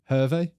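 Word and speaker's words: Hervé: say his name again what's his first name hervey Herve h e r v e Kofi Kofi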